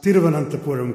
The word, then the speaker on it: Thiruvananthapuram: It's not very often in India that someone can pronounce Thiruvananthapuram correctly.